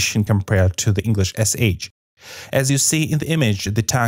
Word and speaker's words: щ: Now, sha, which is pronounced with the tongue posture as in the image. As you see, the tip of the tongue is raised and pushed far forward, almost till the upper front teeth.